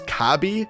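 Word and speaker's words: カービィ: his name and considering in Japanese Kirby is pronounce kabi this makes the scream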